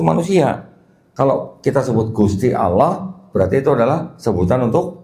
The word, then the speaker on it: Allah: Ya, ejaannya A L a H. Saya membacanya sebagai Allah di sini karena tidak ada tanda syahadat di sini, Pak.